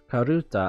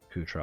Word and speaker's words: karuta: Karuta, obviously, because it's Japanese, but whatever. I say it in my head in a weird way, because in Ascendance of a Bookworm in the light novel, they play Kutra all the time.